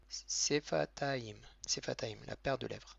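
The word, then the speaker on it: שפתיים: Ensuite, au pluriel, on dit sefataim. Donc c'est la paire de lèvres. Le signe avec un sheva, on est en début de mot. Le sheva, il se prononce. Donc il se prononce comme un e.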